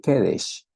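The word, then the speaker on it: קדש: significa el lugar Santo en el hebreo se lee kedes kedes pero es básicamente lo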